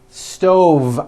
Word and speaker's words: stove: with an unvoiced F I should have said leave with a voiced V sound fisa she just